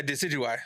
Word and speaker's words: Decidueye: is Rowlet's third evolution, but I don't know how to pronounce it. Decidui? Yeah, Decidueye.